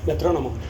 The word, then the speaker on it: metrónomo: Metrónomo.